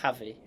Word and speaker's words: Javi: It's not Chavy, is it? It's Javi.